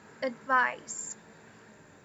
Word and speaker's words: advice: Então, ó, não é advice. É o schwa, é o advice.